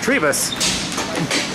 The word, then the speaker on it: Trebus: All this time, Jim has let me know that it's pronounced Trebus.